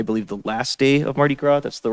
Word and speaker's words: Mardi Gras: And also, it was, I believe, the last day of Mardi Gras.